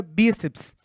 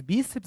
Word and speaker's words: bíceps: E aí você me pergunta assim, Ricardo, mas bíceps é paroxítona? Sim, olha só, quantas sílabas nós temos? Quantas vogais nós temos? Duas, então, duas vogais. Logo, duas sílabas. Ela é uma paroxítona não terminada em A, E, O, em e ens. Por esse motivo deve ser acentuada.